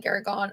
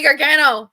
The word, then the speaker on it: Gargano: like all mixed up, and I called Johnny Gargon or Johnny Johnny oh my God. I know how to say his Gargano? freaking name. Johnny Gargano.